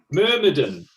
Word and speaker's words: Myrmidon: Myrmidon. Myrmidon. Din or dum? Dim.